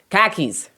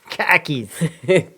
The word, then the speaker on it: car keys: Um, they're the ones who taught me that car keys are pronounced khakis. Khakis.